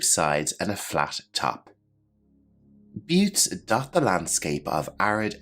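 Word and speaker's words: butte: the video description below our next term is pronounced a little bit differently than you might imagine but repeat after me but a but is a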